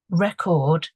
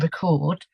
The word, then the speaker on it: record: So record and record, it's the same spelling, but the stress is on either the beginning of the word or the end of the word.